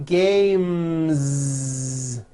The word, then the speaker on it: games: that ending voice flies the last sound you hear in the word game m is the m sound M which is a voiced consonant so because of that when you add an S the S should also be voiced one game two games games now the word head